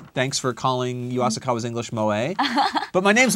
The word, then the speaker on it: moe: And also, Miss Asakawa's English in this show is M-O-E. How do you pronounce that?